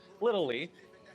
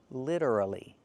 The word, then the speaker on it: literally: The word is not pronounced little ly. It's pronounced literally. Literally. Literally. Four syllables. Not little ly, three syllables, but four syllables.